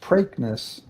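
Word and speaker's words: Preakness: So, right, there's actually um although it's pronounced uh in New Jersey, it's generally pronounced pranknness uh more of an a than an e and there's there's a uh section of Patterson and a park and prankness park.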